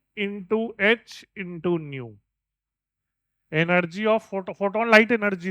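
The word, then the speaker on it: ν: एच एच की न्यू न्यू, वो symbol है, symbol new न्यू new pronounce है न्यू, ठीक है, न्यू।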